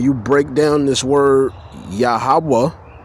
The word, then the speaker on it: YaHaWaH: How you going to tell somebody the name of the most high is a highaya? That's like you referring to yourself. All right. You can't address the most high like that. Aaya.